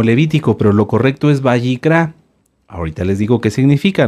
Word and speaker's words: Vayikra: de kilo r a bicra bicra lleva acento en la a en la última A bicra qué libro es